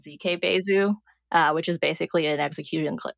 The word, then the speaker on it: Besu: with like the full tool set of ConsenSys, we also have the Besu client.